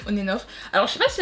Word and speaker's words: ONF: ONF ou onen onenof comment on prononce je crois qu' on prononce onenof alors je sais pas